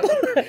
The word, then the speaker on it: Bula: So we'll just start with the word Bula for today, which is, no, it's not Bula, but Bula.